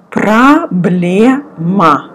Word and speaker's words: Проблема: Проблема. O, you pronounce again like A. Проблема, проблема.